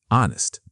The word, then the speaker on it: honest: Another example, honest. Again, silent h.